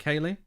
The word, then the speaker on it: Kayle: Is that Kaylee? Pronounced like Kaylee? Interesting.